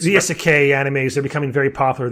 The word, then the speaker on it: isekai: Am I pronouncing that right? The isekai anime? Yeah, isekai.